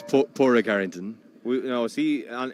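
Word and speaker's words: Pádraig: well it's definitely not padreg and it's not Padre what is it the D is silent it's poor Rick Arrington no is he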